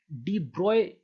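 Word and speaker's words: de Broglie: अब देखिए, जब डी ब्रोगली जो है, डी ब्रोगली के इस लॉ को डी ब्रॉय भी प्रोनाउंस किया जाता है।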